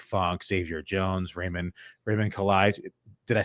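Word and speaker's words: Calais: otis anderson jake funk xavier jones raymond raymond collide did i say it right remember yeah yeah so i mean you can't even pronounce some of these guys names right now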